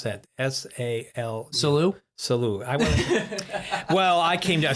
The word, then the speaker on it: Salu: on Salu Park. Oh my! I always get called on how I pronounce that. S-A-L. Salu.